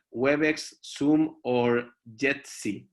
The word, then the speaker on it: Jitsi: As we said, WebEx, Zoom, or Jitsi, right, Sergio? Did I say it right? Yeah, Jitsi.